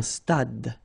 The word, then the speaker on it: stade: Un stade. Same thing here. Final E is not pronounced. Un stade.